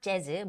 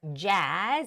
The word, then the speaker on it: jazz: roll so it's rock not Jaz but Jazz it's a long a vowel sound jazz jazz and classical